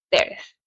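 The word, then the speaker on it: Thérèse: Pronunciaba su nombre la francesa Teres.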